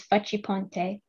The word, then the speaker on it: Facciponte: Stressing the fa, darting down in pitch, attacking the next syllable, the harsh chiseled ch of the chi. It's not a soft C and doesn't slide off the tongue.